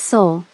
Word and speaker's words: Seoul: What's Seoul? She asked, mangling the pronunciation.